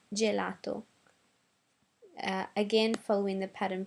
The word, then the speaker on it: gelato: brand is mar now g g follow the same pattern as the c i c e so we had CH over here and now we're going to have g j and some examples are gymnastica gymnas sticks and gelato uh again following the